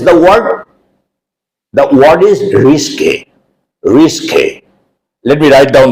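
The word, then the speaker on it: risqué: The pronunciation, you should note properly. Risque, not risk, but risque. The meaning is slightly indecent. Let's look at the example sentence now. He told a rather risque joke.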